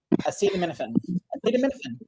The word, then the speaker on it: acetaminophen: Acetaminophen is easy to pronounce. The ending is like minophen and acetaminophen. Acetaminophen.